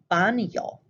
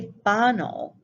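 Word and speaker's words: baño: many words such as banyo notice i didn't say bano i said yo as though there is a y after the n that is the word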